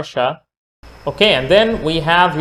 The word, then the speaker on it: Russia: Russia, ممكن النطق بتاعها Russia by the way, يبقى مش روسيا, اسمها Russia.